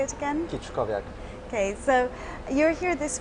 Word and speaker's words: Kiczkowiak: Kiczkowiak.